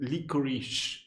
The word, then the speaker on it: licorice: English language does it why is it licorish it ends with C E it should be lior bro it's so oh